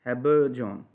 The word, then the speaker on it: habergeon: अब मॉडर्न में देखें sadly discoloured by हिज habergeon, इसकी प्रोनाउंसिएशन है habergeon।